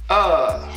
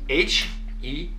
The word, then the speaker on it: heure: Now, the word for hour is heure. It's spelled H-E-U-R-E and it's pronounced heure, heure, heure, heure, right?